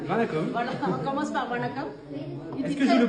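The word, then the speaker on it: வணக்கம்: En fait, tout d'abord, vous m'avez dit Vanakam. Vanakam. Vanakam. Voilà, on commence par Vanakam. Est-ce que je le prononce bien?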